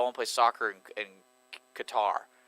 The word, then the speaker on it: Qatar: I think it's pronounced Qatar, actually. Yeah, it is Qatar. But we're from Texas.